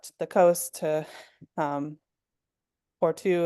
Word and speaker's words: Porto: the coast to um Porto is the way they pronounce it, but Americans would call it Porto.